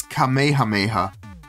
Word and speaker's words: Kamehameha: how you say it I know that's not how you say it but it's GHA had KS in it GHA GHA all right but but but it has KS doesn't matter actually it does it's kameha Mayha my God all right